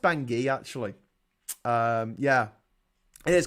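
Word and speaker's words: Bangui: I think it's pronounced bangi actually um yeah it is because the river is called the ubangi so it must be bang it must be pronounced bangi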